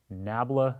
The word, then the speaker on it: nabla: delta flipped upside down we pronounce this as nabla c and this is a